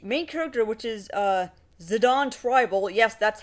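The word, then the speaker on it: Zidane: character which is uh zidon tribal yes that's how it's pronounced a lot like the retired French football player zidine zadon it turns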